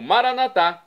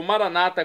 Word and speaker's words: Maranata: E agora eu clamo Maranatá, como dizemos nós católicos, ou Maranata, como dizem nossos irmãos separados, os evangélicos ou protestantes.